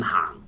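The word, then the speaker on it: 行: Now, slightly longer vowel sound, hang. H-A, like you're saying H-A-A-N-G. Hang.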